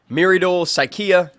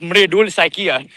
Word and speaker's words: Mridul Saikia: Thoughts on, I'm gonna butcher the pronunciation, but Miridul Saikia, good enough for me. It's pronounced Mridul Saikia.